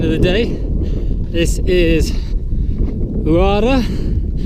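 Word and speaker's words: Huara: This is Uara. Don't pronounce the H.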